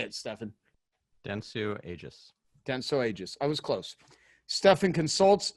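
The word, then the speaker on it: Dentsu Aegis: how do you say it Stefan Denso Aegis Denso Aegis I was close Stephan consults speaks and writes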